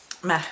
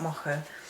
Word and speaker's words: Macha: to start with uh Mah or Mo depending on your pronunciation so here I felt